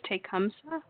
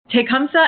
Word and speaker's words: Tecumseh: i'm gonna mispronounce this how do you say it again elizabeth i believe it's tecumseh tecumseh and the prophet um